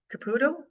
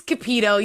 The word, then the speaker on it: Cupido: some point again, Caputo. Did I say it right? It's Cupido. You were Caputo. close.